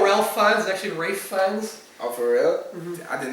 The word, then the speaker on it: Ralph Fiennes: I think it's Swedish, but it's pronounced Gyllenhaal for anyone who wants to pronounce it right. Kind of like how Ralph Fiennes is actually Rafe Fiennes.